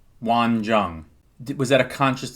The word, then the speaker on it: Won: My name is Won, 1 syllable.